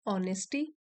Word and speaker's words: honesty: आज हम एक पैराग्राफ की रीडिंग करेंगे और इसका टाइटल है ऑनेस्टी। एच साइलेंट है इसमें।